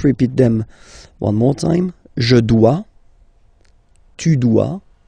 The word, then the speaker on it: dois: Okay, remember final S is not pronounced. Je dois. OE, when you combine the two, you get the sound wa wa wa. Je dois.